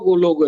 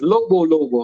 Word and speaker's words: Lobo: I saying it wrong. I said Logo. It's Lobo, huh?